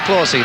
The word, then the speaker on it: Clahessy: An Irish name, Clahessy, but he told me that his family calls it Clausey. And that's the way it's pronounced here, he says, in Australia, so Clausey it is.